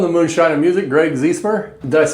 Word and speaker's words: Ziesemer: Greg Zemer, did I pronounce it correct?